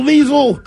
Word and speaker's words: Liesl: Hello, Liesl.